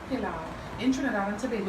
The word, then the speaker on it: pelau: I am not saying pilaf, I'm saying pilau.